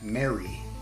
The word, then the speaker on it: mare: quadrants of the Moon mare like nightmare reason eight quadrants of the Moon are called mare the normal commoner would pronounce it as it sounds esoterically it's pronounced Mary the names of the